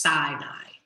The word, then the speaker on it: Sinai: to the desert sinai this is pronounced sinai they went to the